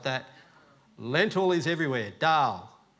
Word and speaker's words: dal: that lentil is everywhere Dal it's not you're not calling your wife doll it's spelled a little different and on the back